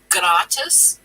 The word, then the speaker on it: gratis: much with german because the g here is pronounced with a hard sound so it's not like slatus it's gratis um so for the